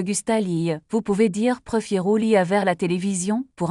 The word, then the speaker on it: prefiero: Il est important de bien prononcer le R dans prefiero.